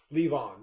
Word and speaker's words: Levon: Levon, yeah.